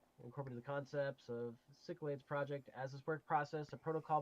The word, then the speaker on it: Cyclades: control program which Incorporated Concepts from the French Cyclades project let's see what Cyclades is mm-hmm the Cyclades is a computer network French pronunciation cyclad Sao sick Lads okay okay so I was saying it wrong